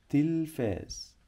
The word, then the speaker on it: التلفاز: قال غلط يبقى شاطر لان عندي هنا لام شمسيه لا تنطق بنكتبها وما بننطقها عشان هنا حرف اللام جه بعديه حرف التاء حرف التاء بيسبق دايما لام شمسيه لا تنطق تنطق تنطق التلفاز التلفاز اليوم لن اشاهد التلفاز طيب